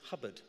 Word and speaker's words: Hobart: why the Maverick General Sir Percy Hobart should Hubbard as it's pronounced should not be employed in a senior